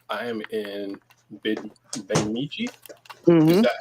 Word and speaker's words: Bemidji: And for Calvin, Prime Time on YouTube says I am in Bemidji. Is that how it's pronounced?